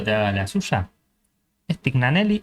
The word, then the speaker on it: Tignanelli: Mi primer pregunta antes de que Leo te haga la suya, ¿es tignaneli o Tiñanelli? Tiñaneli se pronuncia. N se pronuncia como una italiana. Italian. Claro. Un poquito italiano.